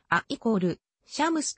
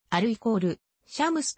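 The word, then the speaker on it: الشمس: やと呼ばれる例えばに定冠詞が付いた場合アッシュ車グッズあっ = シャムスとなりある = シャムスとは発音しないすなわちアラビア語の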